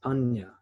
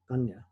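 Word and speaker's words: paññā: In Buddhism, the Pali word for it in Buddhism is panya, which is spelled P-A-N-N-A when you translate it into English text or the Roman text. Panya.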